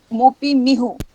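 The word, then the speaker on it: Mopi Mihu: So that pronunciation is correct? Yes, that's correct. It's Moppi Mihu.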